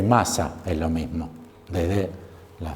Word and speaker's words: Mach: que hay estos autores a ma Quizás lo conocen pu se escribe mach es alemán se escribe mach es